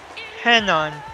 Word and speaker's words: Renan: By the way, Barrow's first name is pronounced Henan.